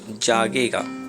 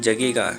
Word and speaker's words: जागेगा: तो जब गरीब जागेगा, जागेगा नहीं होता है, जगेगा, यहाँ पे लिखा हुआ है जगेगा, लेकिन होता है यहाँ पे जागेगा, है ना। आकार का मात्रा यहाँ लग जाएगा तो हो जाएगा जागेगा तब क्रांति होगी।